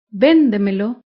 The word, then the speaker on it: véndemelo: ejemplo la palabra véndemelo véndemelo se acentúa en la sílaba anterior a la antepenúltima sílaba véndemelo todas las palabras sobreesdrújulas